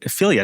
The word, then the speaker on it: Figlia: And for those of you in the crowd, Figlia, not Figlia, as I might have pronounced it.